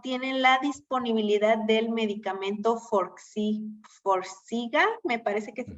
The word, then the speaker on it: Forxiga: Dice, desafortunadamente en el sector salud no tienen la disponibilidad del medicamento Forxiga, me parece que se pronuncia. Forxiga, sí.